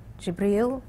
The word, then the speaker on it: Jibreel: spoke to me through the angel Jibreel, that's how you say it in Arabic, and Gabriel in English, and then exhort people